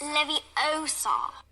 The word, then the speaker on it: Leviosa: someone's eye out besides you're saying it wrong it's leviosa is it harry potter